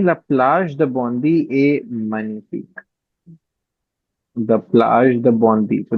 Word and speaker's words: Magnifique: Magnifique. Okay. Magnifique. G is silent, huh?